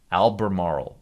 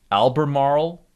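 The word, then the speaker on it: Albemarle: uh alternate energy cars lithium lithium and lithium Alber Marl Alber I I just learned to pronounce this yesterday correctly so again Alber Marl you've got lithium here you've got copper here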